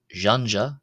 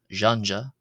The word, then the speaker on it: ϫⲁⲛϫⲁ: This is like the ja in the name of the Russian general zukov. Ja or the S in the English measure. Uh or can also be pronounced as the J in the French.